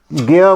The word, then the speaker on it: ज्ञ: हमें दिक्कत आती है इसको हम ग्य बोलते हैं हमें ज्ञान बढ़ाया गया